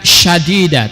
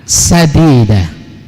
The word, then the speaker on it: sadida: Itu adalah qaulnya qaulan sadida, bukan syadida tapi tanpa titik. Qaulan sadida, yang lurus.